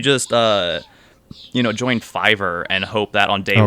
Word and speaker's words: Fiverr: mispronounced that but no that's actually how it's pronounced Fiverr Fiverr I every time I say it I feel